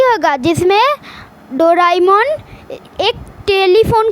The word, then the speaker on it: Doraemon: ये वीडियो में मैं डोरेमोन को डोराएमोन बोलने वाला हूँ क्योंकि उसका असली प्रोनाउंसिएशन डोराएमोन ही है।